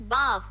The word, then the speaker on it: bow: बात कर रहे हो, तो वहां पर प्रोनाउंसिएशन चेंज हो जाता है। वहां पर हो जाता है, सुनो, Bow. बाओ। ठीक है, तो इसके दो प्रोनाउंसिएशन है।